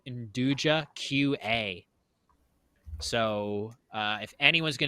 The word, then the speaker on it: nduja: pronounced Nduja. N-D-U-J-A.